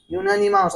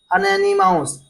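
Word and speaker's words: unanimous: इसको पढ़ते हैं यूनानिमाउस। अगर इसको ऐसे पढ़ा जाता अनैनिमाउस, तब क्या हमारा एन का यूज होता है यहाँ पर, लेकिन इसका प्रोनाउंसिएशन होता है यूनानिमाउस।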